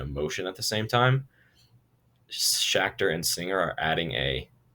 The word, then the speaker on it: Schachter: you see two-factor theory it rhymes with schachter right shacked or two-factor so you might see